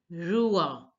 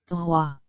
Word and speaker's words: roi: A stands for Rua, Rua, which means king. Now here OI stands for Ua, Ua. You all know that the OI sound, if OI are together, it is pronounced as Ua.